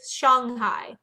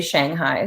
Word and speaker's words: Shanghai: hear how she's saying it so the correct pronunciation is Shanghai in Mandarin yes but I mean in in